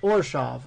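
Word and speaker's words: Orzhov: you pronounce this hold on or a shop or shop or shop okay that's how you pronounce it I think I'm gonna go wash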